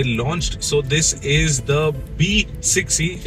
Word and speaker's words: BE 6e: So this is the B6e. It is spelled out BE6e, but they pronounce it as B6e.